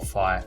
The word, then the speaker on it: phi: as i have a fee or phi depending on how you want to pronounce it now an angle